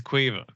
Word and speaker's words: Kyiv: I think what you mean is Quiva. Quiva. Yeah. Kyiv is Quiva.